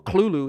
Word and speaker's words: Cthulhu: And at the same time, Dagon's design is based off Cthulhu, or Cthulhu, if you want to pronounce it like how it's supposed to be, because you're supposed to cough it out.